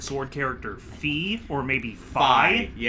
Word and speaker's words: Fi: I think it's fi specifically because I've heard it in Hyrule Warriors, uh, they pronounce it Fi. And considering that Hyrule Warriors, you know, was developed by Nintendo themselves, I'm going to defer to the game on that one.